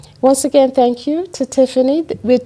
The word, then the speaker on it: Tiphanie: Tiphanie. There you go. Just PH. But you know, but they're right though, because that PH is pronounced F.